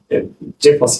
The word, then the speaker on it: Cefas: Cefas kimi yazılsa da Cefas kimi okunur.